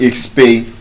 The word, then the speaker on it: expatiate: Number one, there's no N in that word. It's not expans. So it is P A, not P A N. Number two, the sound is not exper. Number three, which is the best part is the stress. It's not even expatiate. Expatiate. Exactly. So you don't say can you expansiate can you expatate? That's the correct pronunciation.